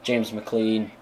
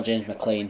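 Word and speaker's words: McClean: got up front like Kevin Doyle Robbie Keane James McLean oh James McLean sorry is how it's pronounced um I I think yeah isand will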